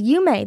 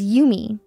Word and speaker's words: Yume: Like, there's, for example, because my last name is Yume, people who, and my audience is primarily English, they don't pronounce it as Yume, they pronounce it as Yumi. So everyone thinks my name is Yumi, and it's not.